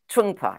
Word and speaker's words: Trungpa: That was Meditation in Action by I always hate these names that I have to pronounce because I always get them wrong, but I'll do it for you. Trungpa, you do it for me.